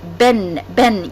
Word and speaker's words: been: Been. Yes, we write it as B-E-E-N. However, the correct pronunciation is been.